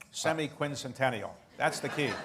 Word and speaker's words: semiquincentennial: for the 250th anniversary how many people can pronounce semiquincentennial that's the key semiquincentennial okay well let's hope we all um we